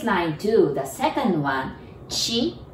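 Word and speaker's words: ち: too the second one Chi it's really t i and T sound but we pronounce that like c-h-i Chi and also the one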